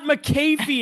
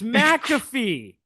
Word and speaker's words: McAfee: It's not McAfee, it's McAfee.